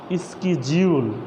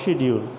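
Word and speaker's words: schedule: Hair is আ স্কেডিউল অর শিডিউল, দুটো উচ্চারণ correct হবে। তুমি স্কেডিউল বলতে পারো, আবার শিডিউল বলতে পারো।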